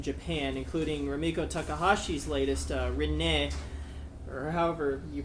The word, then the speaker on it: Rinne: Rinne in Japanese. In Okay. the anime, how But will you pronounce cockmongler?